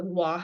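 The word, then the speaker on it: Waw: It is the Wah sound, which to me seems more like a W than a V, but again, up to interpretation.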